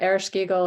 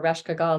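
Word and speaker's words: Ereshkigal: and then her sister erish giggle or rashkagal there's different ways it's pronounced uh is the sun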